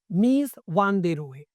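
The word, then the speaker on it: Mies van der Rohe: कहा less इज more मीज वान दे रोए राइट तो लेस इज मोर किस दे दिया है आपको मीज वान दे रो ने क्लियर इन का साइलेंट रहेगा तो मीज़ वन दे रो क्लियर अब इनकी एक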